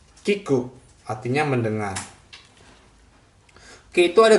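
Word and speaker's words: 聞く: Bacanya kiku, artinya mendengar.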